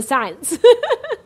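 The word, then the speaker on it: سعد: name in our society because it's spelled S-A-D, said, you know. So it's not a common name, but it's Sa'ad. Sa'ad is Sin Ain Dal. Sa'ad. Huh? Yeah. Happiness. It's not sad.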